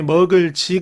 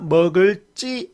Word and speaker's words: 먹을지: 발음하는 것 여기도 마찬가지 먹을지 가 아니라 먹을 찌 라고 발음하는 것 갈 등이 아니라